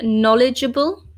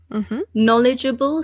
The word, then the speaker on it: knowledgeable: this word we say knowledgeable knowledgeable so the K is silent and there are four syllables knowledgeable so number one a